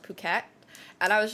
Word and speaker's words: Phuket: Um, so Grace, I was pronouncing it fuket fuk like literally fuket for the longest time and I kept getting corrected and it's pronounced puket and I was like, okay, but why is